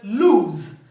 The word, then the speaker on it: lose: it is just s and when pronouncing the word lose the vocal Cults must vibrate towards the end because the sound is l o z when you say Z